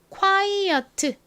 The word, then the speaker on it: quiet: 마지막 T는 트 소리가 납니다. 그런데 끝에 이 T가 워낙 약하게 발음이 되어서 마치 받침처럼 들리는 경우가 많아요. 그래서 한국어로 이 단어를 쓸 때 quiet 이렇게 표기를 하기도 하지만 quiet 이렇게 표기를 하기도 합니다.